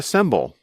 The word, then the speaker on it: cymbal: Two words that make exactly the same sound in English are called homophones.